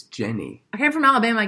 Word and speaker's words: Jenny: in house of cards but it's not her Jeannie in Forrest Gump yeah Jenny its Jenny I came from Alabama I get to pronounce it as cleaning Jeannie it's like ginny